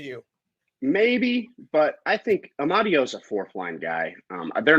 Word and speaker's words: Amadio: Amadio. So you guys signed your third goalie to an extension, and you signed. Say it again. Michael Amadio.